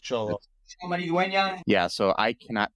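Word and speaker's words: Xolo: okay cholo yeah because x o l o but cholo it's pronounced cholo yeah so I cannot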